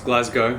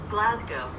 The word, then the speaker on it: Glasgow: is it Luka its Glasgow what is it again Glasgow apparently W on the end is silent so it's one of